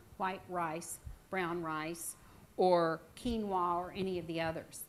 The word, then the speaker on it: quinoa: It's Quinoa. I know. Go figure.